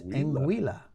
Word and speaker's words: Anguilla: We were wrong. It's Anguilla.